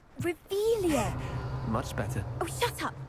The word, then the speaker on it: Revelio: in the first place where are you rebellious saying it wrong uh revealia much better oh shut